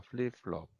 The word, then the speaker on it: 플립플롭: 여기에 피읍은 F 발음입니다. 플립플롭.